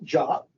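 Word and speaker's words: JWT: to that problem is Json web tokens pronounced jot I often call them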